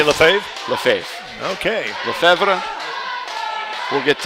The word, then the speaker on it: Lefebvre: So Charles Lefebvre is on the mound. Left side. Not say the B. The B is not pronounced. Left side, V-R-E. No B. Lefebvre.